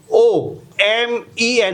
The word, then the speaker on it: women: Okay, now WOMEN. How you pronounce it? Women. Woman ni women. It's a plural. એટલે ઉચ્ચારણ થાય women. Okay, એટલે I નો ઉચ્ચારણ થયો છે O, but we pronounce it as I.